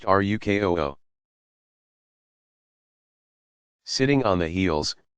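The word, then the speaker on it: ruku: to place hands on knees Roku pronounced ruk oh ho sitting on the heels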